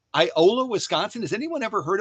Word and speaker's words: Iola: to google iola wisconsin it's spelled i o l a just like it sounds i o l a